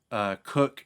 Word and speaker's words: Koch: I read it's Koch, but I read it as I think that's how you pronounce it. Cook.